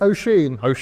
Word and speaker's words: Oisin: We've communicated over Twitter in the past, I think, but not directly with you as, how do I pronounce it? Oisin. Oisin. Oisin the deer, yes. It's Irish.